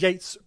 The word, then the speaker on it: Yeats: He's not yeeting poetry out of his fucking door. I know, because there's an E in there. There's an E in there. It's confusing me. It's spelled Yeats. W.B. Yeats.